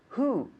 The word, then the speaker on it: who: But today we're going to focus on the question word who. Who. So first of all, make sure we're pronouncing that okay. Who. So we don't have the jota sound, but the who, right?